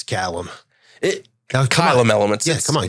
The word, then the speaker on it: Caelum: So I pronounced it Caelum before it's Caelum.